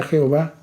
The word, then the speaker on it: Jehová: gloria las versiones católicas el nombre de dios que nuestras biblias se pronuncia jehová las biblias católicas lo traducen como llave entonces aquí se está